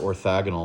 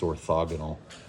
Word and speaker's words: orthogonal: then we have orthogonal it's with an O I've pronounced it orthagonal like my whole life but it's orthogonal orthogonal lines what happens